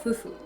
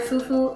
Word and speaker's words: Fufu: going to be making an African dish called Fufu pronounced f-u-f-ufu but then answer it can be a